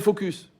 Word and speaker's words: focus: vois le bien s'appelle focus ouais tu focus sur le bien focus sur le mal faut bien prononcer le S c'est ce moment qu'est-ce